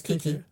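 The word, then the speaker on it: Keke: I thought yeah, it was it's Kiki. Okay, Kiki. I didn't want to mispronounce it, but that's what I do.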